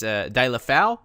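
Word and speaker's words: Deulofeu: So, it's De La Foul, or just around the mark there without the Spanish kind of accent.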